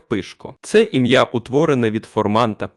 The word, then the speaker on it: Пишко: є родинно-побутовим чоловічим ім'ям у місцевій вимові воно звучить як пишко це ім'я утворене від